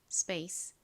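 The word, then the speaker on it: space: 보면 스페이스가 됩니다 스페이스 S 바로 뒤에 이렇게 피가 올 때에는 피를 좀 세게 된 소리처럼 발음하는 경향이 있습니다 그래서 스페이스 보다 스페이스 스페이스 이렇게 거의 쌍비읍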